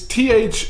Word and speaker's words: Thiel: Is it Peter Thiel? It's Thiel. I think it's pronounced Thiel, yeah.